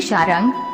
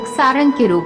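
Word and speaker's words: शार्ङ्ग: लोग इसका उच्चारण सारंग भी करते हैं। लेकिन सही शब्द शरंगा है।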